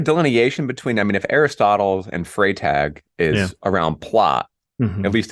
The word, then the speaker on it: Freytag: Did I pronounce that right? Yeah, Freytag.